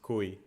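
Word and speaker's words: cuy: on the peran food I know is actually called Kai like if it's a um I guess it would be pronounced Ki guinea pig damn but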